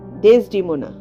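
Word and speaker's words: Desdemona: আই beg your pardon, ডেসডিমোনা। এখানে বলে রাখি, জজ সাহেব ইংরেজি উচ্চারণ সম্বন্ধে খাঁটি ইংরেজ ছিলেন।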